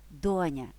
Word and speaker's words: доня: доні я недаремно сказала доня До речі свою так і називаю Донечко сонечко адже тут щодо наголосу сумнівів немає доня тож легко запам'ятати що наголос у цьому слові на перший склад ба більше на першому